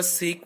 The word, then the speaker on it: sake: ये इंग्लिश का सेक वर्ड नहीं है, सेक होता है खातिर, बट दिस इज सके.